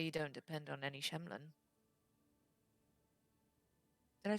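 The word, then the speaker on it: shemlen: That way you don't depend on any Shemlin.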